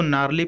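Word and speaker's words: gnarly: देखिए, इसको नार्ली पढ़ेंगे, जी यहाँ पर साइलेंट होता है, ठीक है।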